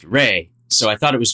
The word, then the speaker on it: Re: Ra is sometimes A-E and pronounced Re.